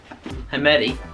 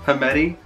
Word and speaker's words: Knuckameti: Knuckameti? Knuckles Knuckameti. Knuckameti. Knuckameti. The Knuckameti. The Knuckameti. Yeah, that's quite good, yeah. So, the Knuckameti, I don't know how I'm going to spell that. The K is silent.